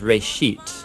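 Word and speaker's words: בראשית: of it's called Genesis Genesis comes from a Hebrew word it's pronounced race sheet and it just means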